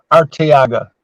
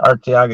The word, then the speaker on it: Arteaga: Arteaga, that's how you say it, Arteaga.